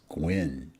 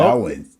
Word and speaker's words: Gawain: So I pronounced the brother's name as Gwen. Okay. But is it Gwen? Or wait, how'd you say it? Gowan? No, Gawain. So Gowan.